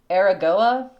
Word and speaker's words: Aragoa: All of the 2 names of the 2 different kingdoms are pronounced Aragoa, spelled like Aragon, but with a Goa at the end, and no N.